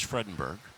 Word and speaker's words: Fredenberg: By the way, Mark, you know that I can be rather persnickety when it comes to the correct pronunciations of names, and so because of the discussions you and I said I'm going out and I'm going to talk to the parents. It is Fredenberg.